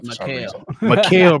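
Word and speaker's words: Mikal: Austin Reeves, Paulo Banchero, Malachi Bridges. I feel like I'm butchering his name for some Mikhail. reason. Mikael Bridges. I knew I was saying it wrong.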